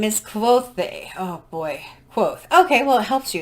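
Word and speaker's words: Kvothe: Quoth. Okay, well, it helps you. It says, my name is Quoth, pronounced nearly the same as Quothe.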